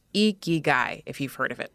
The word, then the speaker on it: Ikigai: Yes, it's pronounced Ikigai if you've heard of it before.